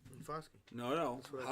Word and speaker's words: Foskey: Foskey.